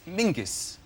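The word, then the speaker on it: Menzies: His name is Mingus. Mingus. Yes. Goss. Yeah. Yeah. But it's pronounced it's it's spelled M E N Z I E S.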